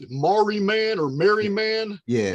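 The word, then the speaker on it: Marree Man: I don't know how you guys pronounce it, but it's Mariman or Merryman. Yeah. It's M-A-R-R-E-E. Mary. Is it Marie Man or something? Merryman, yeah.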